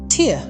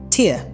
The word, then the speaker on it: tear: Imagine coming across such a word and not knowing whether to say tear, as in tearing a piece of paper, or tear, as in a teardrop.